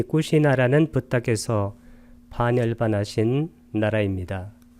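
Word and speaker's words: Kusinārā: 이 꾸시나라는 부탁에서 반열반하신 나라입니다. 빨리어로는 꾸시나라, 나를 길게 발음하면 됩니다.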